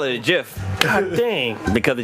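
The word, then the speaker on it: GIF: up a of a Jif from Futurama was with bender saying kill all humans jafek i call it a jiff dang because the G is silent or not silent it's a soft G oh my goodness not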